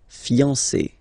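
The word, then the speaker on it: fiancée: But then you don't pronounce it phonetically. Whether it's masculine or feminine, it will still be fiancé, okay?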